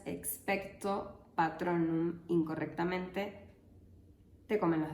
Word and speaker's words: expecto: el hechizo experto patrón la palabra expecto tiene una entonación descendente en la última sílaba lo que significa que la voz debe bajar su tono en esa sílaba además si pronuncias expecto patronum incorrectamente te comen